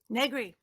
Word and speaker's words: Negri: So do I pronounce it Negri? Negri.